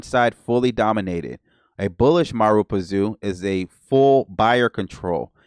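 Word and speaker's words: Marubozu: The Mara, okay, Marazupazu, pronunciation. I'm not gonna hold you. Marubazu. Marubazu. All right, so we got it.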